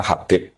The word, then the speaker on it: Habib: Yang benar itu bacanya Habib.